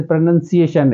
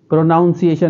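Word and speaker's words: pronunciation: जैसे प्रोनंसिएशन है, प्रोनाउंसिएशन नहीं है, प्रोनंसिएशन। तो इस चीज़ का भले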